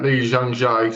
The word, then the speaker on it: Lee Jung-jae: get his name up to say it right, Lee Jung-jae, sold himself out by being in that show.